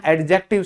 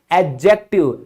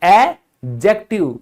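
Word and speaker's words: adjective: कि बच्चों आज हम एडजेक्टिव सीखेंगे, जो कि उच्चारण बिल्कुल गलत है। अंग्रेजी में ऐसा उच्चारण है ही नहीं। आप क्या कहेंगे, एडजेक्टिव, एडजेक्टिव, यानी भूल जाओ कि यहां पर डी लिखा हुआ है।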